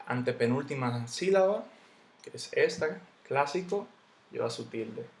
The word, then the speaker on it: clásico: han sido que este clásico lleva su tilde clásico yo no digo clásico ni clásico yo digo clásico la palabra cónyuge yo